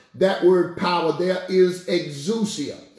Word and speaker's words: exousia: That word power there is exousia. Or as some people say, exousia.